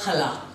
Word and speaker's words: challah: What we are starting with is a challah, a Jewish festival bread. Although it's spelled C-H-A-L-L-A-H, the Middle Eastern cha is very prominent.